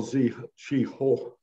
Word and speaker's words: Zheng He: Well, let's start first with that Admiral Zhi Ho, which I believe is the correct pronunciation.